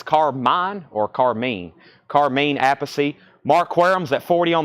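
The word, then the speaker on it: Appice: Carmine tells Jim Prada is the correct Italian pronunciation is apathy which is how most of his family members including his brother Vinnie pronounces it okay so as Britney his brother's Vinnie wow all right so apacy he said it himself thank you Craig for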